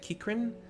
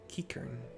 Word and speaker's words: Qiqirn: I've always wanted to pronounce it Kikrin, but it's Qiqirn. Kikern.